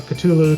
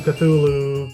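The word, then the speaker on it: Cthulhu: a culu um and it's variously pronounced you know culu cthulu Kulu those you pick pick your poison it really doesn't matter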